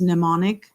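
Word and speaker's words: mnemonic: know what this is pneumonic pneumonic it's m n e m o n i c but the m is silent right so it's pneumonic that's our that's the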